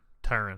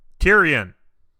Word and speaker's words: Tyrion: Am I saying his name wrong again? Tyrion, I think. Tyrion.